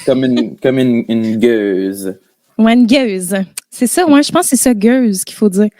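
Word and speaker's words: gueuze: Et ça inclut les gauzes, Parce que d'origine, là, la gauze, ça s'écrit G-U-E-U-Z-E et non pas G-O-S-E. OK. Fait qu'en tout cas, si jamais ça t'intéressait. Comme une gueuse. Ouais, une gueuse.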